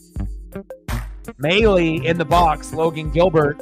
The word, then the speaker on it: Maile: Had to look up the pronunciation of that last name as well. M-A-I-L-E. Could have been Mail or Mailey, and that's why you got to do your research and do your due diligence so that way you know what you're doing.